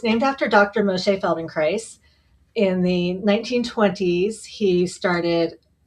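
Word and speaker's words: Feldenkrais: So, can you tell us what exactly is Feldon Christ?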